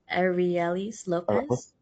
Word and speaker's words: Arelys López: Arielis Lopez. Aelis Lopez.